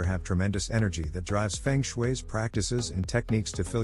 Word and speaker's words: feng shui: spiritual feng shui facebook twitter thailand feng shui pronounced feng shui is an ancient chinese art whose name translates